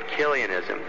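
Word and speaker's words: Chiliasm: It was condemned centuries ago under the name of Killianism. You can look that up. It's spelled with a C-H.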